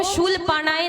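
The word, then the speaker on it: शूलपाणये: इसके बाद ओम शूल पाणाय नमः। क्या? ओम शूल पाणे नमः। पाणाय नहीं, पाणेय नमः।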